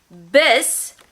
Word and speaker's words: bis: Bis sounds like the beginning of biscuit, bis.